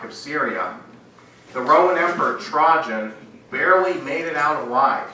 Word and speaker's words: Trajan: Now, the year after the death of the Parthian emperor Mithridates IV, the Roman emperor Trajan, that's how you pronounce it, broke the Roman-Parthian peace treaty.